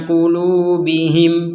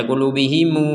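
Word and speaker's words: قلوبهم: Kenapa kita barusan bacanya qulubihim? Kenapa tidak baca qulubihimu misalkan? Ya karena kita berhenti.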